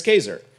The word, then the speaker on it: Kaczor: Chris Kaczor, rhymes with razor, is chair of, it says that right in the bio, is chair of the philosophy department at Loyola Marymount University.